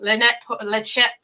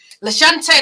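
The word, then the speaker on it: Lachante: can't say her name, Lechette Paul, I think I've said her name. Lashante, that's it.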